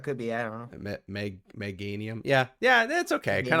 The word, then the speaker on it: Meganium: It's Chikorita, Bayleaf, Meganium. Oh, that one. Yeah. Just doesn't look as cool. I would say Meganium, because it's like mega, like. Oh, it could be. I don't know. Meganium.